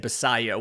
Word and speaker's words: Basallo: On Farm, and said, think about the word quesadilla when you say Basallo, which that doesn't really help me with the pronunciation, but I found a video of him talking about it, and he said Basallo when he introduced himself.